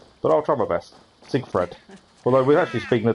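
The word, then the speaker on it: Sigfred: we've done avengers gaming i keep saying siegfried fried siegfried and he seek fred okay is it i've i've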